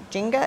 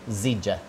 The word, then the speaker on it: Zija: Okay, so I see that you always have the, like, Jinga, is that how you say it? Zija.